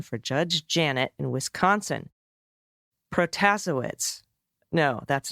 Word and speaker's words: Protasewicz: Hi, just a friendly correction for the pronunciation for Judge Janet in Wisconsin. Protasewicz. No, that's not right. Protasewicz.